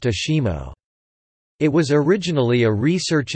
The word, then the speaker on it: ASIMO: derived from advanced step in innovative mobility is pronounced Ashima it was originally a research and development program